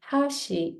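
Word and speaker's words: 橋: So hashi or hashi could have 3 meanings in Japanese. When I say hashi, that means chopsticks. And then when I say hashi, that becomes a bridge. And then when I say hashi, that means edge.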